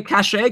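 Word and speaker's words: Kaše: Okay, and then we got to talk about who is this Andre Cachet guy, who, by the way, I'm getting compliments in the chat room for having pronounced his name right.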